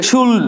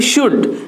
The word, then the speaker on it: should: শুড, এই যে উচ্চারণ কিন্তু এই এলটা সাইলেন্ট হয়ে যায়, অনেকে শুল্ড শুল্ড না, অনেকে না মানে কেউ কেউ করে থাকে, শুল্ড নয় শুড, উচ্চারণ হবে শুড শুড।